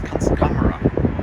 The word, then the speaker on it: Kunstkamera: It's Kunstkamera, thereabouts. It's derived from a German word which means art chamber.